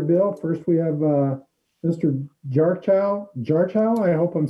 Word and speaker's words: Jarchow: Okay, my name is Jarko. You were close, gets butchered a lot.